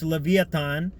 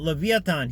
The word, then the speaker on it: Leviathan: Wait, the dragon is talking about Leviathan here. Now, Leviathan, or Leviathan as it's pronounced in modern English, refers to the great